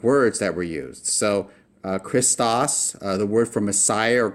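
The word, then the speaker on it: Χριστός: And that CHR is one sound. We pronounce it together. We don't break it up into smaller syllables.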